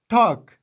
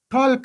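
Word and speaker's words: talk: مثلا ټاک، دلته له ال نه وروسته کې راغلی او ال نه د تلفظ شوی، ټاک ټالک هم نه دی ویلي.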